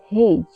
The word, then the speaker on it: hedge: HEDGE हेज, हेज में भी D silent है, यहाँ पे डी के बाद जी आया हुआ है इसलिए यहाँ पे डी साइलेंट है।